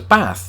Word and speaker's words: bath: as you can see I say it as bath not too dissimilar in fact how most Americans would say it I think they're expecting me to extend the a like a lot of people in the South do but I'm from the north and we do things differently in the north you need to learn